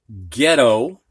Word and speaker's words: ghetto: So in these words, the G does get sounded, but not the H. So we have ghost. We don't hear the H. Ghastly, ghetto, and Ghana.